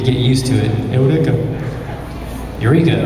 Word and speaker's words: Eureka: Eureka, right? It's spelled Eureka. My eyes want me to say Eureka, but I have to tell myself Eureka.